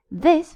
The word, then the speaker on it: this: This for the singular, sorry, has a short I. This whereas these has a long I E. You see those those two dots there? That indicates it's long. It means it's pronounced um as if it was two eyes.